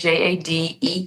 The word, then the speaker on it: JADEEE: Obviously, my artist name is J A D E V E, which is pronounced Jade. Well, I pronounce it Jade.